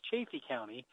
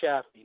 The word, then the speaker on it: Chaffee County: asked what do you say well our County's pronounced Chafee County not Chaffee now there's a lot of people to come